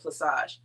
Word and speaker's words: plaçage: to give the exact definition of the word placage placage which is spelled p-l-a-c-a-g-e and that c has a uh